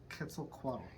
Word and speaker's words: Quetzalcoatl: Quetzalcoatl. Quetzalcoatl? Yes. Quetzalcoatl. Now spell it.